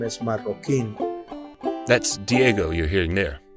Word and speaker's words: Marroquin: our last name is Marin that's Diego you're hearing there that's we pronounce it in Spanish and it spells m